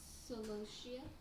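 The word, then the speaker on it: Celosia: Solosia. I was gonna say salacious. You might need to spell that for them.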